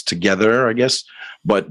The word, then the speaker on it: TOGETHXR: pronounce it there it's together i guess but the x itself is silent i suppose um you